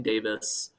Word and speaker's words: Davies: So, there there's this kind of view that's that's developed by people like uh Father Brian Davis, uh the spelled like Davies, in case anyone is is curious about this sort of view.